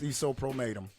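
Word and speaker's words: Sisohpromatem: The house, Isopromatum. Actually, it's Metamorphosis backwards. Wow. That's what it is. It's Metamorphosis backwards. Okay. It's Isopromatum. And all these years I never realized that shit.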